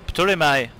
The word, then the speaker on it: Ptolemy: It's Ptolemy. Oh, that's how we pronounce it? Ptolemy? Ptolemy, yeah.